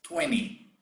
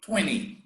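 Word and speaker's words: twenty: or as the american says 20. okay in england they say 20 in the united states they say 20 they don't pronounce the t and then you start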